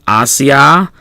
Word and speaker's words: Asia: Note the IA in Asia. We talked about how that is not a diphthong, so those are separate syllables.